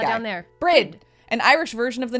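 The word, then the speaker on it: Bríd: that's right down there brid an Irish version of the name Bridget a famous Irish saint it's pronounced with a long e uh similar to the English word breed breed breed um but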